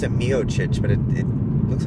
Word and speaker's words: Miocic: The Miocic fight. They pronounce it Miocic, but it looks like it should be pronounced Miocic.